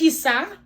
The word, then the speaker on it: kisa: right okay asian word of the day is kisa so kisa so kisa is spelled k-i-s-a kisa is what okay so we